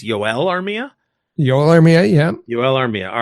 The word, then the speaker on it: Joel Armia: We're here today to talk about a player whose first name I'm going to ask you to clarify pronunciation. I believe it's Joel Armia? Joel Armia, yeah.